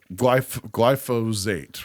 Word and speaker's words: glyphosate: I thought when I was hearing like Joe Rogan and people of that ilk talking about using glyphosate, right?